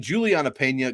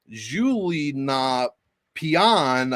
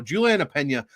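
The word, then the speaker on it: Julianna Peña: evening the rematch between juliana pena going against amanda nunes or or how do they pronounce it on espn julie na pian against amanda nunes like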